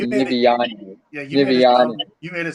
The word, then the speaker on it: Niviane: We pronounce it Niviane, but Niviane. but we hear it different ways wherever we go. So, like I said, Right. we don't really correct people anymore. We just let people say it however they think it sounds.